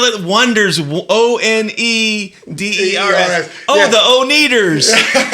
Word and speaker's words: Oneders: You remember that movie, The Wonders, and they said the Oneaters. Oh yeah. That's a good point. Yeah. So like that. We'll spell it Wonders.